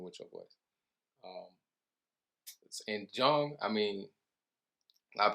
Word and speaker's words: Jung: So Carl Jung, he was German. So his name was actually pronounced Carl Jung, right?